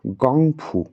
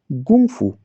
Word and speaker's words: gōng fū: characters no it's not gongfu notice that small Mark at the top of the letter O It's a tonal infliction marker because of that we pronounce it as Gung Fu not gongfu according to the up